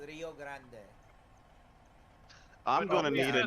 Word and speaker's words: Rio Grande: Grande and yeah so is it actually Grand yeah Rio it's Grand Denver Rio Grand West if you actually say it in Spanish it's Rio Grande I'm going to need